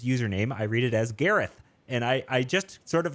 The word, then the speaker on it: Gareth: Who's named Gareth? Yeah, no, you were right. It's TH. Yeah. Oh, it's Garrett. A tricky one.